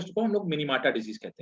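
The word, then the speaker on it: Minamata: तो भाई देखा गया, तो उसको कहा गया क्या, क्या बोलते हैं उसको, हम लोग मिनीमाटा डिजीज कहते हैं इसको, चाहे मिनीमाटा, वैसे मिनीमाता इसको वो बोलते हैं, प्रोनाउंसिएट करते हैं, तो उसको बोला गया मिनीमाटा डिजीज।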